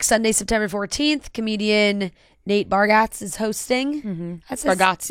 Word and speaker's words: Bargatze: Comedian Nate Bargatze is hosting. Mm-hmm. That's Bargatze. Bargatze?